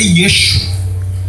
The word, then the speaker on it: Yeshua: Jesus em aramaico é Yeshua. Em hebraico, Yeshua. Né?